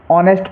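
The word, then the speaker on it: honest: हैं वो गलत है इसको ऑनेस्ट पढ़ेंगे क्योंकि एच साइलेंट रहेगा यहां देखिए आवर एच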